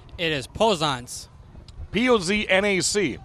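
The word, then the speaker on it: Poznac: how do you pronounce your last name? It is Pozanc.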